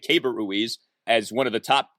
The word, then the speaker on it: Keibert Ruiz: We're now being told that's how you say it, Keibert Ruiz, as one of the top catching prospects in all of baseball.